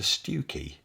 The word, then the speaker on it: Stiffkey: a certain way, but the pronunciation of the place name is nothing like how they are spelt.